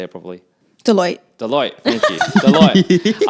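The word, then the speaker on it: Deloitte: Deote. Thank you. Deote. I was going to say Delight and I'm like that doesn't sound right.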